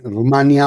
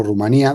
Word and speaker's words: Rumania: Efectivamente, resulta ser que Rumania o Rumanía, dependiendo de cómo la gente decida pronunciarlo, ya sabemos que en